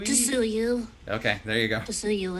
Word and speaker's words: Tsuyu: And for this one line, the waiter is, I can't pronounce that name, from My Hero Academia. What is that name? Tisui? Tsuyu.